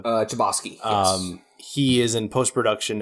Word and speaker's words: Chbosky: Chbosky, yes.